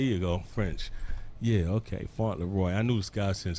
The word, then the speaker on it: Fauntleroy: always pronounce your last name wrong I've always pronounced it flaw re how do you whistle pronunciation talk like his